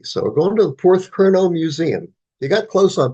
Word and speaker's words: Porthcurno: So we're going to the Porthcurno Museum. You got close on pronouncing that right there. Go Porthcurno, which is all the way at the southwest end of Great Britain.